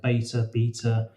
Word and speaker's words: B3TA: But the thing that some people are aware of is beta or B3TA, which continues the theme of names that are difficult to say and pronounce. So beta, B3TA, no one knows how to say it.